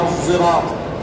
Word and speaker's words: الصراط: بالزاي، وإنما يقول القراء إنما هي قراءة بالصاد بإشمامها زايا، بإشمامها زايا، فتنطق اهدنا الصراط.